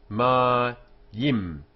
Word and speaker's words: mayim: So the first syllable, hum, is closed. The next is ma, open, and then yim, closed again. Y here comes before the e, yim, and so begins the syllable and is sounded as in y, as in year.